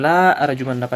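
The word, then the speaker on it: لأرجمنك: Kemudian surat Maryam 46 la arjumannaka la ar pendek lamnya bukan la arjumannaka dibacanya. Tulisannya panjang tapi dibaca pendek. Dibacanya harus pendek la arjumannaka.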